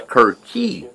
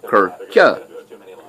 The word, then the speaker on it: Kirchie: It's Curchie, not Curcha.